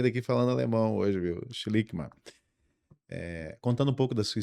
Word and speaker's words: Schlickmann: Bom, nós estamos recebendo, vou me ajeitar na cadeira aqui, nós estamos recebendo o Schlickmann. Excelente, tá? Perfeita a pronúncia. Já vou sair daqui falando alemão hoje, viu? Schlickmann.